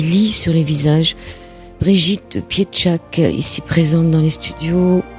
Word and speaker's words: Pietrzak: et ça se prononce piedchac c'est polonais c'est d'origine polonaise par mes grands-parents paternels